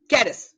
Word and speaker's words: caress: कैरस, ठीक है, कैरस, सॉरी, इसका प्रोनाउंसिएशन क्या करेंगे हम लोग?